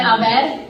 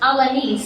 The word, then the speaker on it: Alanis: Someone was in a conversation and they said Abed, and I was like, oh no, it's pronounced Alanis. That's my last name.